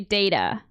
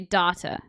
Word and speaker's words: data: now um like also I don't say data I say data okay uh things like